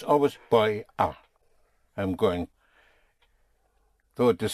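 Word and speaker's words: voy a: two words but in in the spoken language you contract the boy are to buyer buyer. You make it practically one word.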